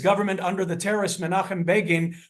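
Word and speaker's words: Begin: under the terrorist manim beIN whose name rhymes with Fagan uh those of you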